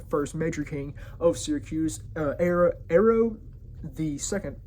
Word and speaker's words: Hiero: major king of Syracuse, Hiero Hiero the Second. It's h i e r o, and air is pronounced like that, so I'm just going to say Hiero.